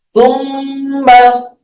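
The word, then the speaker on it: ثُمَّ: Sama summa, itu pasti ada tasdidnya. Setiap tulisan fa sama mim digabung mesti bacanya summa.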